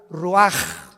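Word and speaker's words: רוח: y exhaló Isaac el Roach así como suena se pronuncia la c en hebreo como J ruaj se le só y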